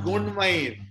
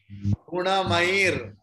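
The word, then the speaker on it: गुणमयैः: It's not Gunmair. It is Guna. Gunamair. Not Gunmair. It's complete let.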